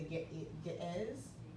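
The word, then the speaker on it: Ge'ez: Enoch is written in the gate is I think it's how it's pronounced it's GE apostrophe easy and it's actually an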